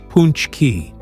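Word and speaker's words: pączki: Ponchki, pronounced punchki.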